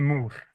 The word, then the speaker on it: Múr: of your bond M yeah yeah it's a a mo yeah so but it's very close I'm yeah my name is I'm the frontman of of the band Mo from Iceland yeah you